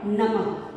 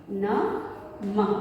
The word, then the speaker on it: नमः: और जब हम इसका उच्चारण करते हैं तो ह की ध्वनि हमें सुनाई देती है। और इसी मात्रा या चिन्ह से संबंधित हमारा अगला पाठ है नमः। नमः पाठ का नाम है नमः।